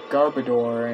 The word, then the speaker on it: Garbodor: People pronounce it Garbodor, and... I mean, yeah, but it's like garbage and odor.